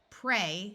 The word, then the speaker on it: prey: of a shorter word try the long a sound like in the word they hey prey this word prey means